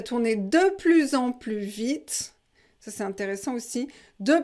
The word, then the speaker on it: plus vite: plus en plus vite on ne prononce pas le s ici parce que vous avez vite après de plus en plus vite alors dit le petit